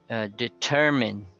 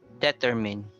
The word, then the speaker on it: determine: Another mispronounced word, commonly mispronounced, is determine. So the stress is on the second. It's not on the first, like determine.